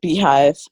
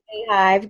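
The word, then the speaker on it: Beyhive: know that is a beehive i say beehive i don't know why i say beehive i think it's how it's spelled but the beehive is uh hey hive get it right on it so i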